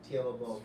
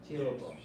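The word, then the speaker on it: Teahupo'o: Surf at Tiahupo. And I changed my pronunciation. You know, I think everyone has. It's really weird. I'm just going Tiahupo from now on. Tiahupo.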